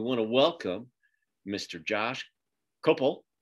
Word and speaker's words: Kopel: Josh Kopel, right?